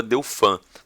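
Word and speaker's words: dauphin: de delfim a ou em francês pronunciava deu fã ah mas é porque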